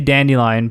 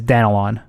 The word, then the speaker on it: Danilon: But yeah, you can say dandelion, but the pronunciation of my last name is Danilon.